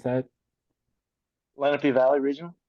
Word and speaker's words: Lenape: how do you pronounce that? Lenape Valley region. Lenape.